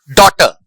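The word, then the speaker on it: daughter: फिर है कुछ ऐसे वर्ड्स जिसमें एच साइलेंट है जिनको हम प्रोनाउंस करते हैं जिसका जब हम उच्चारण करते हैं तो उसमें एच है। उस वर्ड में एच होता है लेकिन एच का प्रोनाउंसिएशन हम नहीं करते हैं। जैसे डॉटर डॉटर right bright H का प्रोनंसिएशन नहीं होता है।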